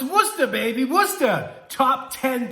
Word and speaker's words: Worcester: playing today we're talking top 10 things about Worcester Mass and yes that's how you pronounce it so you have lots of questions